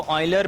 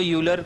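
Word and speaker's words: Euler: है यह लियोनार्ड ल इसको ऑयलर पढ़ते हैं ठीक है प्रोनाउंस ऑयलर करते हैं जर्मन तो आप उसको यूलर कुछ भी बोललो बस बेसिकली आपको याद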